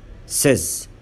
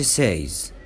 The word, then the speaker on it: says: Exceptions. ركز بقى في نطق الكلمات دي لان الكلمات دي ليها نطق خاص. احنا بنقول said ما ينفعش نقول said. says ما قولش says. again ما قولش again.